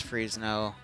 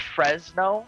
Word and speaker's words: Fresno: a change later likewise freeze no it's freezing all right it's pronounced Fresno Fresno there's if it was freeze now it would have had two e's before the Z gotcha Fresno I apologize